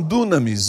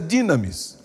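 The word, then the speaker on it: δύναμις: Alguns falam dunamis, mas a pronúncia mais correta é dinamis.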